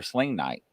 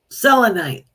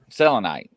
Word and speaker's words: selenite: my selenti is helpful or sling night is that how you say it selenite selenite listen to me he's trying